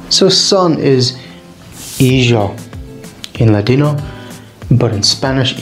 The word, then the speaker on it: hijo: So the Ladino pronounces the J like the French do. Well, the Spanish pronounce it like the Spanish do. That makes sense, right? So sun is hijo in Ladino, but in Spanish, hijo.